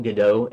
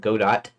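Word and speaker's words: Godot: one of the devs call it gdau instead of God do I always called it God do originally but everybody else started call it gdo like like that play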